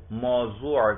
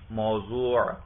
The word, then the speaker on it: موضوع: اچھا، منطق میں مبتدا کو موضوع کہتے ہیں، ضاد کے ساتھ، میم واو ضاد واو عین، موضوع.